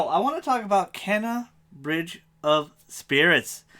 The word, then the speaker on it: Kena: want to talk about kenna bridge of spirits i think it's kinah actually i think that's how they actually pronounce it in the game but don't sleep on